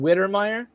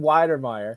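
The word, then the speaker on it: Wydermyer: even know how to if i'm pronouncing this guy's name jalen wittermeier wider widener meyer jalen weidermeier there you go you have you've taken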